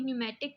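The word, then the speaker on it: pneumatic: पहले भी बताया था पीस में साइलेंट है इसको हम पढ़ेंगे न्यूमेटिक पोस्ट मीन हवा के जरिए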